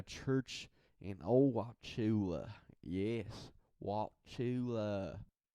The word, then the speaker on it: Wauchula: Yes, Wauchula. I say it like that because that's kind of how they talk there.